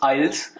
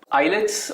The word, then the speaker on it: IELTS: Of course it इज आइल्स, IELTS exam इसे भी कहते हैं। आइलेट्स आई गेस थोड़ा सा पंजाबी टच की वजह से, पंजाबी